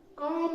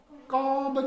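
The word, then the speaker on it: comb: कॉम होता है, कॉम। कॉम्ब नहीं होता है।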